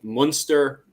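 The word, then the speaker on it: Munster: Uh, the pronunciation of these, by the way, is if you look at the very north there in the green spot, uh, you have Olster. Then in yellow, we have Conuct. Then at the bottom there we have Monster Lster there in red and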